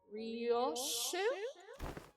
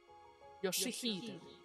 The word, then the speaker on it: Yoshihide: Ryosho? No. That is not how you read those letters. Yoshihide. That is how you say it.